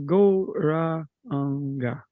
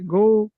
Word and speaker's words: Gauranga: So our mantra for this opening meditation is the mantra Gauranga, divided into 4 syllables, Gauranga.